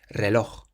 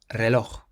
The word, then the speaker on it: reloj: Similarly, we stress the last syllable on this next word. It means watch, and it ends in a J. Reloj. Reloj.